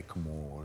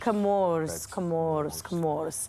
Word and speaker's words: Comores: Even Comoros, is that how you say it? I say Comores. Comores. Just say it like you're on the island and the soft wind is blowing past your face.